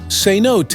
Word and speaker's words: cenote: are nearly 10,000 known Cotes pronounced senot is the word derives from the Mayan word son not which roughly translates to hole with water now once again you